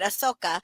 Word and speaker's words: Ahsoka: Ahsoka.